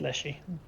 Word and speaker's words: leshy: like to eat leshy. Yeah. Actually, they'll eat most of anything if they can get their hands on it. Fleshy rhymes with fleshy.